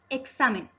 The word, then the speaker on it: examen: Primera palabra, examen. Examen tiene la sílaba tónica en sa. Como es la penúltima sílaba, se denomina palabra grave y como termina en n, no lleva tilde.